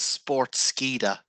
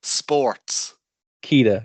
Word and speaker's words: Sportskeeda: I always pronounce it as Sportskeeda. But yeah, it makes more sense that it would be sports. Keeda, yeah. I'm an idiot.